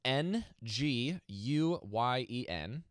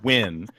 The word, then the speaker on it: Nguyen: last name is n G u ye N and it is a Vietnamese name yes and you if